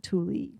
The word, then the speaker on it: tule: I thought it was just tool, but they pronounce it tule.